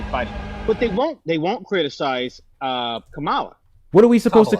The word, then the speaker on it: Kamala: Kamala. That's all you have to do, Kamala.